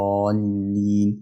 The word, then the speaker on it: الضالين: نطق خطا يعني ولا الضالين والضاد بتبقى ضاد مش داري انه مش واقف عليها كده او وانطقه يعني اخطفه على الضاد والضاد حرف الضاد شويه مش بخطف يعني اظهره شويه فاقول ولا الضالين والالف ليه بعد الضاد